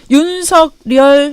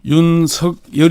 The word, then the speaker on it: 윤석열: 제가 준비하고 있습니다 어서오세요 환영 철 되기 생각하십니까 윤석 리얼 문서 결이 라고 읽어야 되니까 면서 결이 라고 읽어야 되니까 일단 이름은 국문 법상 발음은 예 윤석열 이니까 윤석열 5 있는게 맞습니다 작은데 고민 점점